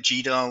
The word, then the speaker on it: GDAL: of course you've got things like gdal or google as some people like to pronounce it and all of